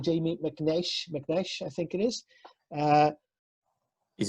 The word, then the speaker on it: McAnsh: And today we are joined by Jamie McAnsh. Is that pronounced properly, Jamie? It's McAnsh, but to be honest with you, I'll get called anything.